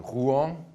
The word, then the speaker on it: Rouen: This is a travel day on Thursday, we will be staying in Rouen. That's how you say it.